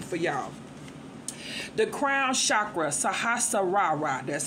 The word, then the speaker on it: Sahasrara: The crown chakra, Sahasrara. That's how you pronounce that, okay?